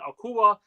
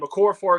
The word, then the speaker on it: Okorafor: Max Mitchell, Josh Myers, Carter Warren, Okua. I completely butchered his name. Okorafor, excuse me.